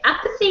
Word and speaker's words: Aeipathy: Zelda motion so I'd like to introduce okay apathy Industries or empathy Industries could you tell us how to pronounce it yeah it's it's epath Industries we made the mistake of choosing a